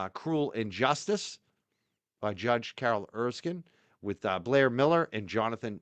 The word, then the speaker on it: Erskine: Am I saying it right when I say Erskine, or is it Erskine? Yes. No, it's Erskine.